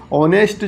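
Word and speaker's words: honest: इसी प्रकार से ऑनेस्ट जो है उसमें एच जो है साइलेंट होता है, इसको ध्यान रखेंगे आप।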